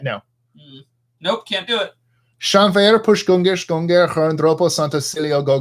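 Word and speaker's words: Llanfairpwllgwyngyll: You can't pronounce this? Come on. Landfair. Nope. Nope. You screwed up right here. I see. Try this part again. Try that word. L-L-A-N. No. Nope, can't do it. Shanfair push gungish gunger herndropo santa cilio go go go.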